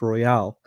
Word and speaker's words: Royale: Um, yeah, my AD told me that it's actually pronounced Royale Oh, okay. because they don't want it confused with the Royal Oak, even though Hmm.